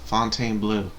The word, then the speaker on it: Fontainebleau: Now, this edict was replaced with the Edict of Fontaine Q or something like that, but it's spelled like Fontaine and then Bleau. Okay, I want to say blue, Fontainebleau.